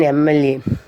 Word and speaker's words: MLA: The same way, an honest man, or as I said, an MLA. Even for MLA also, see, it is M is a consonant, but its pronunciation is A sound.